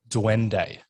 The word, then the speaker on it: duende: We mentioned off air, and please correct me if I say it wrong again, Duende.